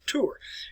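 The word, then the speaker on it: Tours: s on the end of tour it's just pronounced as the battle of tour and this was a bible took place about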